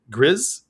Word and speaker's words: Gris: up and just say Gree. Fate Prime wrote in with his like uh his shout out right in parenthesis. He wrote Greece and then wrote it G R I Z pronounced like Grizz Grease Grizz.